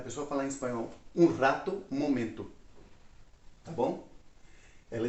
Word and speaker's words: rato: E a mesma palavra rato, que a pronúncia já muda, né? Porque o R é bem forte em espanhol.